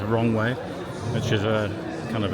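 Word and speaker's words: Roewe: It does say Roe on there. The pronunciation in Chinese is Wrong Way, which is a kind of an ironic little twist, that, isn't it?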